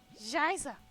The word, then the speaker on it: Scheiße: Shiza. Scheiße.